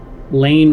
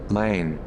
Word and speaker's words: Lane: Lane rhymes with rain. is how it's usually pronounced. Lane.